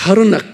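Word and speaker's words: Harnack: 이거 일본 말로 발음해봐. このハルナクス。 하르낙 그러면 돼.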